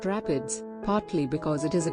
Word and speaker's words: RAPD: polymorphic dna or rapd is usually found in the plural as rapd's and is pronounced rapids partly because it is